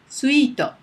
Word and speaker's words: スイート: And a suite is スイート suito at the end, right?